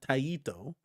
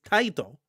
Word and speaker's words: Taito: Not Taiito. Technically speaking, it's Taito. It's Tito.